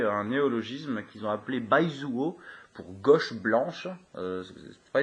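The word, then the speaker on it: 白左: Sa translittération en alphabet latin s'écrit B-A-I-Z-U-O. C'est Baizuo.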